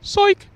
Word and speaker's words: Soik: and Tom Baker and Jim Soik, or properly pronounced psych.